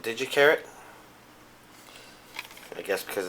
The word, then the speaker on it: Gi Charat: Well, I've kind of heard it pronounced 2 different ways, but I pronounce it Gi Charat.